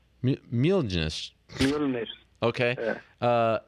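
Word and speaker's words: Mjölnir: How do you pronounce that? Mjolnir. Mjolnir.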